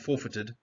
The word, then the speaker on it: forfeited: You got here way, neither or neither, foreign, sovereign, seized, weird, counterfeit, forfeited, or actually just pronounced forfeited. You don't stress that syllable.